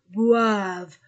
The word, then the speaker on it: boivent: vOYEL et les enfants boivent E n t du verbe ne se prononce pas boive du café café